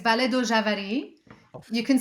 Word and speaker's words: Vale do Javari: Is it Vale de Javari? Am I saying that right? It's in Portuguese, Vale do Javari.